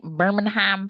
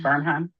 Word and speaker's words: Bernheim: a night hike at Birmingham Forest. Bernheim. Is that how you say it? Yeah. Wait, say it again. Bernheim. Bernheim. Bernheim. Okay, Kesslin, all them extra syllables.